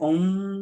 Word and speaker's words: om: you know and or you can say om om so as you chant